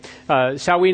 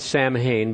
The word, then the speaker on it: Samhain: Samhain is the way it's pronounced. It's spelled Samhain, but you don't pronounce Gaelic by the way it's spelled with English letters.